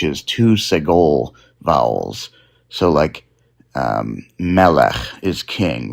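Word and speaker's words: מלך: So usually, in many words, the emphasis comes in the last syllable. But for segolite words, it comes on the second to last syllable.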